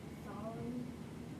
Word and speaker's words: Psalm: The following prayer is based on Remember that P is silent in this book of the Bible. The following prayer is Got it. based on Psalm 25.